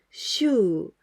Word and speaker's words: 週: The pronunciation of this kanji is shu.